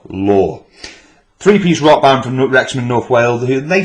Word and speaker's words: Lor: that's l o r law like lord without the d that's what hillary told